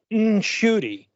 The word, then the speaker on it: Ncuti: mispronouncing his own name, that it's Ncuti, like there's an N sound in it, properly and ethnically.